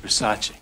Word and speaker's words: Versace: bombing of Showgirls nice dress thanks it's a Versace it's Versace what Versace it's pronounced Versace for one thing the movie was released with